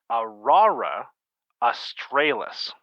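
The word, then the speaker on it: aurora australis: quick uh google tells me that it is pronounced aurora astralis we were both wrong the british pronunciation is aurora astralis yeah that's how i'm pronouncing it astralis australis australis it's the canadian accent australis it's true come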